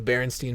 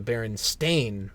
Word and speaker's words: Berenstain: so what's the problem they're not the Berenstein bears they've never been the Berenstein bears despite the fact that many others remember them as the Berenstein bears and I myself still pronounced their name as the Berenstein bears if he writes this one more time I'm gonna kill myself this is false this is wrong they are the Barons Stane bears the Bears with no